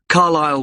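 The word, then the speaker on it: Carlisle: You don't pronounce the S. Carlile way.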